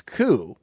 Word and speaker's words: coup: jump into this myanmar coo p is silent not a coop not a coup but